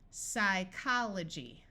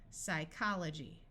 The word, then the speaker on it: psychology: a city in Alaska PS says s psychology note that the Y at the end of a syllable has a long ey sound and this G takes on the J sound because of the Y psychology this I will have